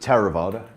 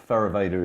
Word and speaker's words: Theravada: In Pali, I pronounce it Theravada. Theravada is perfectly acceptable as well.